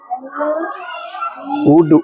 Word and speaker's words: would: COULD कुड, L silent है। WOULD L silent. कुड, good. SHOULD क्या? Sir good. SHOULD शुड, शुड। L silent. Yes ठीक है। वुड, वुड, शुड आना चाहिए बेटा पढ़ना।